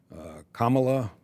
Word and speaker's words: Kamala: I think you're supposed to rhyme it with Mamala, Kamala, not Kamala.